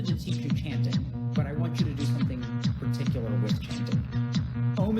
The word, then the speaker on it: Om: Om is composed of 3 syllables.